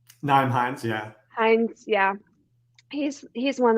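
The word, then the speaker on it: Nyheim Hines: Naeem Hines, yeah.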